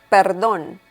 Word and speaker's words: perdón: Pardon means perdón. Perdón. We have another accent mark there, so remember the intonation.